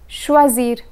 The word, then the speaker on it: choisir: in this category is choisir choisir means to choose when conjugating this verb one must pay attention to the letter S a single s is pronounced as Z while SS is pronounced as sir so here's the conjugation